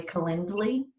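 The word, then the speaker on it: Calendly: to say it really kendly but it's like calendar but it's like calend with a ly and in that you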